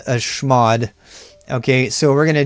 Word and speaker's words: chmod: And this is one of the few commands that I actually phonetically pronounce a chmod.